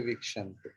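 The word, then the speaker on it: वीक्षन्ते: Because our vowel system is A, I, I, U, R, E, I, O, Au. So there are 4 short vowels. A, I, U, and R. Okay. That should be chanted shortly. And if there is A, E, U means dirgha E, dirgha U, or A, I, O, O. Dirgha means its size is fat like me, it's not. Its ucharan will be prolonged.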